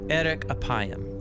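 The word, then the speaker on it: אֶרֶךְ אַפַּיִם: In Hebrew, the phrase slow to anger is pronounced erek apayim, or literally long of nose.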